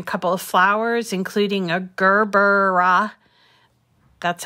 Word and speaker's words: gerbera: be doing a couple of flowers including a gerber that's how i'm told to pronounce it gerbera dz um and hopefully an